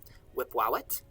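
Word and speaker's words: Wepwawet: represent the deity that is usually called in Egyptological pronunciation Wipwawet.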